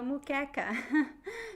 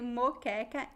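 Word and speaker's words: moqueca: how do you style mukecha it's actually moke m o q u e c a mu okay look for my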